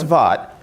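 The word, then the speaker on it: Vought: committee that voted against it because they were upset that there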